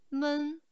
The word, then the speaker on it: 们: Questa parola viene pronunciata come men, men.